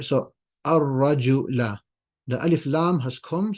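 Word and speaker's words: الرَّجُل: you're going to say ar-rajula. That's just tajweed. You're going to say ar-rajula. You're going to not pronounce the lam because the ra is one of those letters where you don't pronounce the lam.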